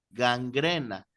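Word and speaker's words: γάγγραινα: gangrena, porque el diptongo de la alfa y la iota es un diptongo, son dos vocales unidas, en griego se pronuncia como E, gangrena.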